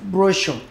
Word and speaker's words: brochure: Brochure. Brochure has the same kind of sound representation as show.